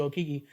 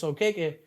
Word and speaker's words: Okeke: He's not, a lot of people, they might, like I didn't know, so I've always called you Okiki. Now I know it's Okeke, but it's something for him to be aware, woke in that type of sense, which Yeah.